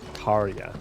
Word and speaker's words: Tarja: Tarja, not Tarja. Nice and chill. Need to stock up on The these. J is silent.